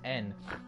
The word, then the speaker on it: yen: I know yen. Actually, it's pronounced N, because I'm a huge weeb.